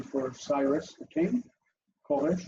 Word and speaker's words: Koresh: Koresh, it's two syllables. First is ko, open. Second is resh, unaccented and closed.